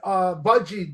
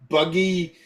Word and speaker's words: Budgie: And who did Budgie did Crash Course in Brain Surgery, right? That's how you say it. I always want to say Buggy.